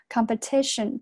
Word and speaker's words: competition: 的发音 asm, zm, 然后 about the competition, 注意下这个 competition 重音在这个地方，这个是一个弱读 competition。然后接下来 thousands 还是这个单词啊，th thou 后面不要读成 o，它是一个 ow，是一个双元音 thou thousand 这个地方是